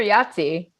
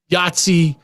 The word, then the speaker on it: Yahtzee: and caught fire super yachty that's the imperial super nazi it's a it's yahtzee but it was yahtzee imperial super nazi it's the actual name of the game and i would thank you to say it properly so i feel